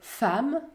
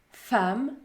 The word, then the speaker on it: femme: patiemment la lettre e se prononce également à dans quelques autres mots c'est beaucoup plus rare comme dans le mot femme femme solennelle solennelle par exemple